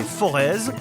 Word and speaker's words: Forez: Entre plaine et moyenne montagne, le Forêt, parfois prononcé Forez, est aussi un paradis pour les randonneurs.